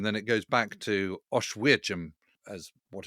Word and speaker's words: Oświęcim: It's called Oświęcim. I had to get the pronunciation of that from Guy Walters, who's been there many times and knows exactly how to pronounce it. Yeah. But it's spelt Oswiecim. Oświęcim.